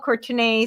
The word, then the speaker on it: Courtenay: It is pronounced Courtenay, but it's spelled Courtenay.